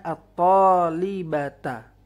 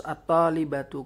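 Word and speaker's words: الطالبةُ: surat atalibatu adalah fail tidak boleh membacanya at tholibata atau taktubu atolibati tidak boleh ataliibati Harus ataliibatu Kenapa harus ataliibatu Sebab Dia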